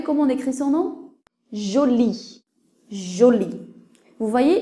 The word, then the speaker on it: Jolie: on écrit son nom jolie joli vous voyez le E n'est pas prononcé prenons le mot petit